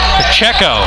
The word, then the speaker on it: Pacheco: Actually, let me correct the pronunciation on that. Pacheco, P-A-C-H-E-C-O, hits a second.